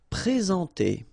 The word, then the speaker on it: présenter: Okay, remember when we've got this accent aigu like that on the top of e, of e, sorry, then you should pronounce it e. All right, and then you combine the two en nasal en présenter.